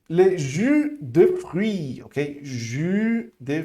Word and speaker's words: jus: Número 4, le jus de fruits, ok? Jus de fruits. Lembrando aqui, essa pronúncia é diferente, é um U, beleza?